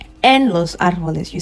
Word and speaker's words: árboles: En los árboles. We can also see that I'm stressing on the R because there is an accent on the A.